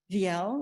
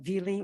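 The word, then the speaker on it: Viele: park specifically Cyrus Clark Egbert viel or Veely or vla I've heard it pronounced all those ways William R Martin Andrew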